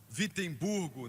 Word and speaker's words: Wittenberg: Na verdade, começa com um W, mas se pronuncia com V. Wittenberg, na Alemanha, e pregou